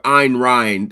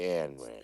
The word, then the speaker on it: Ayn Rand: Um, no, but I'm real familiar with Ayn Rand. It's Ayn Rand. It's Yeah, spelled I Ayn. always I pronounce it Ayn Rand.